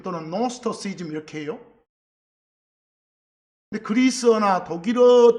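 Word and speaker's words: Gnosticism: 근데 거기서 영어로 읽을 때는 맨 앞에 쥐자가 묵음돼요. 그래서 나스토시즘 또는 노스터시즘 이렇게 해요.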